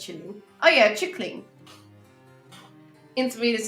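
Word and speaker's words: kylling: In Norwegian, chicken is killing. Pronounced chilling.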